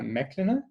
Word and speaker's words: Meklina: sound okay yes sure great um and i'm pronouncing your name mclennan yes that's correct perfect and you how do